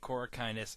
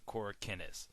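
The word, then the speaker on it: Corakinus: Davis yes I'm aware chica pronounces it cor kindness and I pronounce it cor kinnis tomato tomato whatever he's worked on Harry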